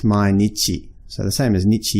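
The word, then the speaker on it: 毎日: remembered a is that symbol this is actually pronounced Mainichi so the same as Nietzsche you'll be the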